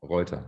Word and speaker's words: Reuter: And, you know, like at the end of, like, if you have ER at the end of a German word, it's pronounced A.